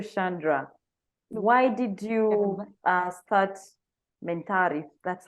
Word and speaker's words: MENTARI: will go to Chandra why did you start mentality that's how it is pronounced what drives you what motivates you what's